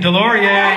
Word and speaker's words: DesLauriers: I think there's a silent S in there. Multiple S's, that's what throws me off.